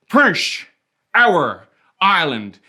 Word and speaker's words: Prince Edward Island: with the longest name you gotta say it like we say it here we do it in three parts prince hour island then you run it all together like your mouth is full of russet burbank potatoes